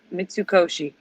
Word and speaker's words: Mitsukoshi: it's a nap cot center miss I can't pronounce it miss sukoshi it sukoshi Mitsukoshi they sponsor the Japan section of Epcot their